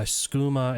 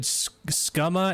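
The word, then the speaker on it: Skooma: money to buy uh schuma and if I'm being honest oh no it pronounce ah it said scuma and Horrors whoa I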